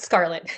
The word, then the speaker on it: Scarlette: It's Scarlett. Scarlett, okay. It's kind of Yeah. spelled like Scarlett. I know the extra E throws everybody off.